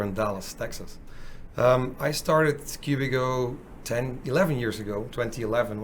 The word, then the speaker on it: Cubigo: so a bit of trivia as you heard at the beginning i mispronounced the name of the product it is actually cubico that's how we call it yeah yeah and